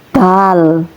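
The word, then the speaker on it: دَ: Kemudian huruf za ketika umpama belum diharakati belum ada ini seumpamanya ya ini namanya huruf dal ya ketika diharakati maka l-nya dibuang. Jadi cara bacanya da begitu ya.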